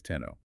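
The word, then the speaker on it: 天皇: But domestically they read those characters as okimi or summakoto and eventually formalized the pronunciation is tenno.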